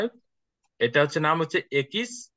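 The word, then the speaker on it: equis: অ হুম ওকে তারপর এটা হচ্ছে কি একিস একিস এবং এটা উচ্চারণ হবে এক্স এর মত এক্স এর মত হ্যাঁ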